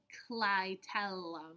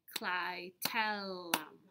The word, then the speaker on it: clitellum: swollen segment called the clitellum. Let's clap that out. Clitellum. How many syllables is that? Clitellum, 3.